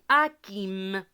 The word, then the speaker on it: Hakim: vous quitter d'accord donc ici le h on ne le prononce jamais on dit pas hakim on dit hakim d'accord hakim est ce